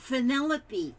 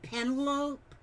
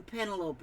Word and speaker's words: Penelope: I was saying Penelope, and then somebody told me that's Penelope, and she phonetically put it out there. So I won't call you Penelope. That sounds too much like an antelope.